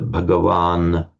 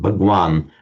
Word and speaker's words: Bhagavan: So you get the masculine nominative singular Bhagavan. In modern India, in Hindi, they pronounce it Bhagwan.